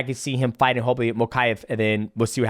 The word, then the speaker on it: Mokaev: Mokaev.